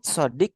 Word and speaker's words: صديق: Ini sodik itu artinya teman. Sodik itu teman. Sodiki. Kalau ini saya kasih tahu. Jadi kalau teman saja itu bahasa Arabnya tuh sodikun. Sodik bacanya tuh sodik gitu, sodik gitu.